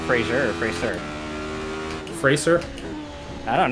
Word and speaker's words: Fraser: Oh, like laser. Got it.